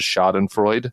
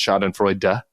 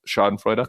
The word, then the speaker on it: Schadenfreude: at the Bulwark mispronounces Schadenfreude, and it's Schadenfreude. We have to pronounce the E. So there you go. Germanophiles, Schadenfreude.